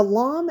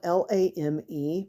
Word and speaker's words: lame: Yeah, a lom is spelled L-A-M-E, but it's pronounced like L-A-H-M, which I totally don't understand.